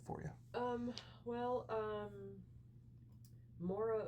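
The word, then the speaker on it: Maire: you um well um Mora o'keef that's spelled m a i r e o'keef um is an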